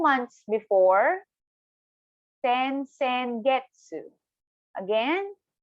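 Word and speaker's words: 先月: So for next month, 2 months before, sen getsu. Again, sen getsu. So one time again, slowly, per syllable, sen getsu.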